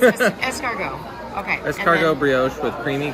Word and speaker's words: escargot: It's escargot.